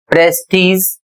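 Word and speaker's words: prestige: अगला शब्द है टी आर ई एस टी आई जी ई प्रेस्टीज और जिसकी हिंदी होती है प्रतिष्ठा।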